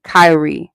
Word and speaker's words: cowrie: What kind Kyrie shell? So like these genuine ones. So it's spelled like cow, Cowrie, Kyrie shells.